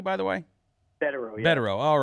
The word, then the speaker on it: Bederow: Very pleased to have with us attorney Bederow. And, thank you, sir, for coming on the program tonight. Pleasure to be here. Am I pronouncing your last name correctly, by the way? Bederow, yeah.